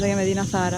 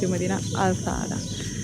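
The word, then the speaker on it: Medina Azahara: We said the name wrong, we thought it was called Medina Zahara and it's Medina AL-Zahra.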